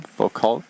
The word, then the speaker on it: Foucault: Foucault, am I pronouncing it correctly?